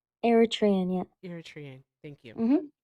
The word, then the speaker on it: Eritrean: How do you pronounce it? Eritrean. Eritrean, yeah.